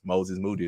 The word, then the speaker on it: Moses Moody: Moses Moody is how you pronounce his name.